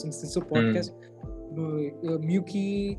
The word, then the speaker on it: MUWCI: Muki is actually it's the way we pronounce MUWCI, which is the short form for Mahindra UWC of India. So when I say if I mention the word Muki, so Muki means the UWC that's in India.